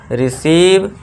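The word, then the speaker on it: receive: ठीक है दोस्तों इन दोनों कोई भी लेटर इन दोनों में से कोई भी लेटर आ जाए आपको इंग्लिश लेटर में इंग्लिश वर्ड्स में तो बस आपको लॉन्ग इ का साउंड देना है ठीक है दोस्तों आप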